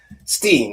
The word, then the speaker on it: Weinstein: Don't want to continually mispronounce somebody's name. Ramstein. Yes. Steen.